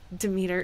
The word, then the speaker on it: Demeter: Somehow, my failure to learn to say the word Demeter is not on me. It's that actually Demeter is an appropriate pronunciation for her, which is very, very gratifying.